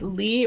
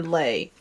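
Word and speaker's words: Leigh: And I'm not sure if it's pronounced Lee or Lei. Bugo. It's L E I G H. I've heard her pronounced both ways.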